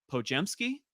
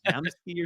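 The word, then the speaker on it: Podziemski: over and that is Brandon Poky which I just learned how to pronounce his name I thought it was psky or something but yeah uh of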